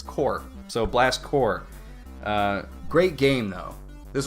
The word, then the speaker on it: Blast Corps: the title cuz I grew up calling it blast corpse and as most people know which I did not is that a corpse is pronounced core when there's an s on it